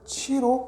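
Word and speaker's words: 徵: 궁상각치 음률 이름 지자는 우리 부를 징자인데 음악 일단은 이거를 치로 발음을 합니다. 음률 이름 치.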